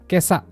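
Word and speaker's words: 今朝: Hati-hati dengan yang warna pink. Cara bacanya enggak sama dengan yang tertulis di atas. Kyo itu kan cara baca khusus. Begitu juga dengan kesa dan Kotoshi.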